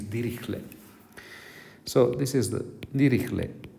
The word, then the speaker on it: Dirichlet: this f is called dirichlet people want some people say dirichlet but it was german so probably the correct pronunciation is dirichlet so this is the